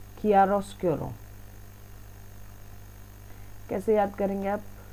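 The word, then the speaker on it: chiaroscuro: होते हैं ड्रॉस क्यूरो वैसे इसकी प्रोनंसिएशन होगी किया रोस केरो ठीक है मैंने तो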